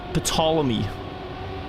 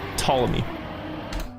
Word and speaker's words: Ptolemy: at the time was Ptolemy. That's not how you say his name, but Ptolemy.